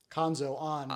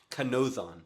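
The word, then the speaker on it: Kanōzan: Kanzo on being the Well, name of our podcast. I pronounced that kind of silly. It's Okay. Kanzo-on. Okay. Or, sorry, no, I just pronounced it entirely wrong. Kanozon.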